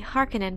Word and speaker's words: Harkonnen: how typical of a harkonnen thief the duke thought this is the primary reason why in my videos i prefer to use the harkenin pronunciation another popular pronunciation comes